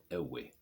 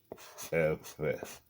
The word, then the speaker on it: Ewe: Here it is. It's F. It's F, not away. Okay, it's written like this. We're gonna practice it. Okay, we're all gonna practice it. It's you know F.